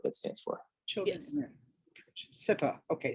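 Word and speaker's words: CIPA: SIPA, okay, SIPA.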